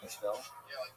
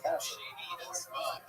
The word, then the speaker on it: Castle: for over a week, I called him Castell. I wasn't joking around, I thought that's what it was, Castell. For some reason, somebody said, oh, it's like the word, like this word. It's pronounced like this word. Now, that word to me means Castell. That's how Castell wine, I believe that's how they pronounce it. Castell. No, obviously it's Castle.